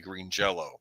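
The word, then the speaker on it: Green Jellÿ: by the band I I know it's spelled green jelly but I think it's their their name is actually Green Jello which was kind of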